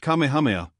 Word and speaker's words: Kamehameha: through Rifts in the cloud rack when kamehame pronounced Kamehameha the great who was a sort of a